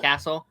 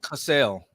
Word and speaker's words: Cassell: You said Castle. Okay, yeah. Yeah. Cassell, actually, is how you pronounce it.